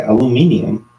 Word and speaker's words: aluminium: Oh, do you like a British person? Aluminium, and then. Yeah, but it's aluminum. Yeah. Right, and then Americans say aluminum.